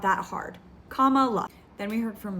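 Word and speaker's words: Kamala: it's not that hard one of her nieces said comma like a comma in a sentence and the other said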